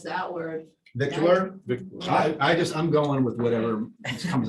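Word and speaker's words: victualer: I guess in the old days, they used to call it vittler.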